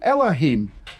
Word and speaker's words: Elohim: And so you've got the E is a sound on its own. And then you've got the next syllable, the low, and then the final syllable is him.